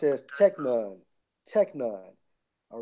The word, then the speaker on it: teknon: Now, when you go into that term son in the Greek, it's Strong's G 5043, pronounced as teknon.